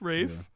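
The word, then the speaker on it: Ralph: And now he's like, "You've still got it, Rafe." Yeah. Yeah. Why don't you pronounce the L, P, and H in your name?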